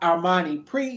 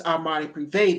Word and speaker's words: Armani Privé: It is not Armani Pre, it's Armani Privé, darling.